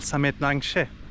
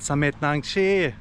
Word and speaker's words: Samet Nangshe: Pour une raison quelconque, en anglais, cela s’appelle « Samet Nangshe ». Cependant, en thaï, il y a le son « Tchi » à la fin. Donc, cela se prononce « Samet Nangchee »… Cette magnifique montagne